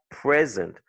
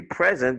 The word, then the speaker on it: present: bit, like, tu as present, ok? When it's a gift, you'd say present because la première syllabe sera P-R-E-S. Mais quand c'est un verbe, tu dis present. La deuxième syllabe est accentuée et la première, c'est P-R-E.